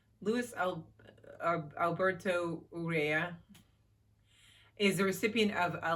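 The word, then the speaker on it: Urrea: of broken angels by luis luis alberto urea urea that's how you say it that's this one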